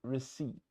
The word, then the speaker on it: receipt: Я знаю, что там есть П перед Т. Но на английском, если П стоит перед Т, его не считаем. So, считаем слово receipt.